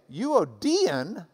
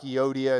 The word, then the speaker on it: Euodia: does indeed look like Euodia and Syntyche. But if you've got the Greek reading next to it, you might as well pronounce it the way they do. So it is Euodia and Syntyche.